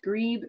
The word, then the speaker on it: grebe: pointed out to me it's pronounced grebe not grabbed like I've been saying it for eight or nine years the ready duck is